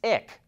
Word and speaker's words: IQ: filed a trademark for two more names that end in iq which is pronounced ick we've reported on the